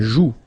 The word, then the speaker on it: joue: La joue. Final E not pronounced here.